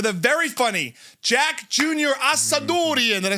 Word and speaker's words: Assadourian: Assadourian. Did I say it right? You said it like an Italian would say it. Yeah, that's all right. Assadourian.